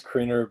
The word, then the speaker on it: Kriener: It is Kriener, but it's been butchered so many times. I just respond to both by now.